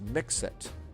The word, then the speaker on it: MIXIT: Uh, they pronounce the X, they pronounce Mixit.